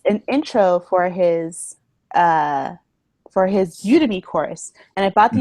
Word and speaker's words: Udemy: I guess it's Udemy, you know, like Academy, like Udemy.